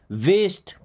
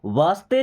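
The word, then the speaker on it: waste: वेस्ट। इसको वास्ते नहीं पढ़ते।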